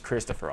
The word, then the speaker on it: Christopher: your name i say my name is Christopher all three syllables a big story about